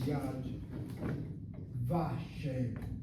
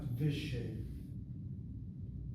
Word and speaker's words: Yad Vashem: The vav gets pointed as a kamatz if the word that you're attaching the vav to is accented on the first syllable. The classic example is yad vashem, not vishem.